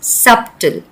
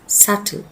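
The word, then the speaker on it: subtle: We never pronounce the word ऐज़ सबटल because the बी is supposed to be silent. We pronounce the word एज सल।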